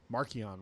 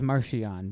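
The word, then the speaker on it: Marchion Ro: it's official but like he pronounces it markian row marchionne i always thought it was martian but he didn't write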